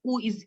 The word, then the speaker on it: où: So there is où, and it's pronounced the same way. Où and où is pronounced the same way, no difference.